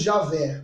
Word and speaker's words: Javé: Não tem vogal, então não tem uma pronúncia, isso no Antigo Testamento, tá? Mas nós falamos Javé, né?